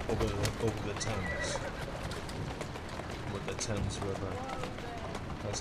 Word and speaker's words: Thames: With the Thames River. That's how it's pronounced.